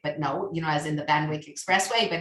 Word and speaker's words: Van Wyck: Wyck family, which is the correct way to pronounce it, I learned. Van, W-Y-C-K, which I always thought was Van Wyck, but no, as in the Van Wyck Expressway, but it's the Van Wyck.